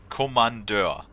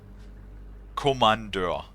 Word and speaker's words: Kommandeur: Kommandeur. Also, it's not spelled with C, it's spelled with K. Kommandeur.